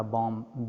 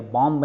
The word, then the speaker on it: bomb: इस तरह कोई एटॉमिक बॉम्ब बना ले। देखो बॉम्ब मैं प्रोनाउंस करा, बॉम्ब, BOMB लिखा है, इसको बम्ब नहीं पढ़ेंगे या बॉम्ब नहीं पढ़ेंगे, बॉम्ब, म पे आके बात खत्म हो जाएगी।